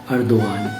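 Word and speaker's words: Erdoğan: है रेसिप Tayyip अर्दोगान, लेकिन जो सी है वो य के तौर पे यूज़ होता है और पी है वो ब के तौर पे यूज़ होता है और जी साइलेंट होता है, लिहाजा रेसिप नहीं रजब तय्यब अर्दोगान।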